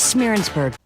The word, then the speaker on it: Schmierensburg: This is Schmierensburg. Yeah, that's how it's said.